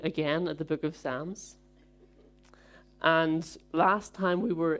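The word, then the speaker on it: Psalms: not the case um it's just my accent it's the proper way to say sams so we're going to be looking again at the book of sams and last time we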